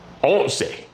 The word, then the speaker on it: once: What do you hear there at the end? They all end in say. And most of them have minus 1, most of them have 2 syllables.